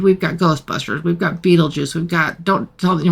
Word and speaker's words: Beetlejuice: advertisements for they have no idea how to pronounce the name but it's Beetle Juice and they quickly figure out that if you